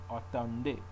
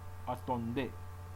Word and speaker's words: attendez: So it says, attendez. You don't pronounce the Z.